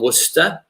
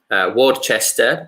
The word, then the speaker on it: Worcester: a few years I'm from Worcester in England Ward Chester is what Italians how Italians pronounce it and I've been living